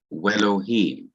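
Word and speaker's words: וֵאלֹהִים: So before Elohim, the conjunction would be we, and it would be pronounced Welohim, Welohim, and God, Welohim.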